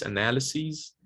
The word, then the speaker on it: analyses: We change the vowel to the tense vowel E, and the final sound is voiced. So crisis, singular, crises. in the plural. The stress doesn't change, okay? It's still cry, stress syllable. But just to emphasize second syllable, it's sees, sees. So crises, analysis, analyses, parentheses, parentheses, basis, bases, okay? And another video from the